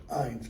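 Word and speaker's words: eyne: compare thine iron okay ein's gotta rhyme with Divine I actually is the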